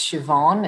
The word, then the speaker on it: Siobhan: me my name is shoban that's a gaic name and pronounced shobon it's a little bit tricky in terms of the spelling and I was born